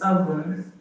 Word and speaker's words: oven: It's not pronounced O. It's oven. Okay. The O in oven has the A sound.